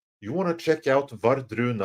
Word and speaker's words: Wardruna: But as far as Norwegian folk metal, Vardruna. You want to check out Vardruna? I'll say it's slower with a more English pronunciation. Vardruna. That's WARDRUNA. You want to check those out.